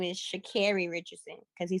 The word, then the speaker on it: Sha'Carri Richardson: Dennis, my name is Sha'Carri Richardson because he said it wrong.